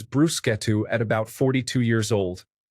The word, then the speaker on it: bruschetta: I was pronouncing it like bruschetta until the guy at the Schlotsky's drive-through window corrected me with zeal. Learned it is bruschetto at about 42 years old.